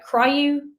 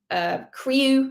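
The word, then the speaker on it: CRIU: across the term uh cryu crew is another way of pronouncing it c-r-i-u this is an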